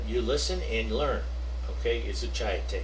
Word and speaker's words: изучаете: Okay, изучаете is the correct pronunciation for that verb.